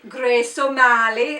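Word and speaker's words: Grace O'Malley: So, this is Grace Mali. And you have to say it like that. You just have to say Grace Ali like you're Irish.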